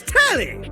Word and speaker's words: Telly: Before we get to what's on my screen, let me The name's Telly. Rhymes with Nelly. Like, whoa, Nelly.